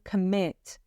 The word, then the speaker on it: commit: in the comment message be careful with the word stress in this particular example though we stress the first syllable if we're talking about a noun a comet and the second syllable when we're talking about the verb to commit a comet but verb